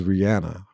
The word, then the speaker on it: Rihanna: in an interview that people call her Rihanna but her name is Rihanna how you pronounce her